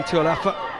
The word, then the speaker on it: Tualafa: That's not how you pronounce it. It's not how you spell it. I'm keeping quiet. I'll blame it on your mouth being cold, Johnny. That is how you pronounce it, because I asked Hannah, her coach yesterday, in fact asked Hayley herself, who was...